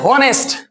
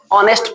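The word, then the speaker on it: honest: चलिए दूसरा लिखा है होनेस्ट लेकिन होनेस्ट नहीं पढ़ा जाता है। ऑनेस्ट पढ़ा जाता है। क्या पढ़ा जाता है? ऑनेस्ट।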